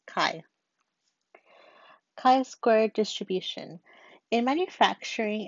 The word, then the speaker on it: chi: It looks like a fancy X and it's pronounced chi.